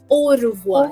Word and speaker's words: au revoir: Now, one last greeting for the day is au revoir. Au revoir. Au revoir.